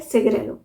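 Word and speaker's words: cigarillo: सिगरेलो spelling ये होती है, पर इसे प्रोनाउंस किया जाता है सिगरेलो।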